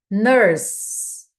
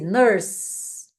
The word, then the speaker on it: nurse: Nurse, ela termina com a letra E. Só que no inglês, quando o E vem depois de uma consoante, ele não é pronunciado. A gente vai então finalizar a pronúncia dessa palavra no s.